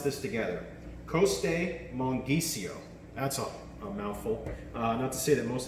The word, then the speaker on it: Costemonghisio: and now get ready for a mouthful let's pronounce this together Coast a monkey Co that's all that's it most Italian words and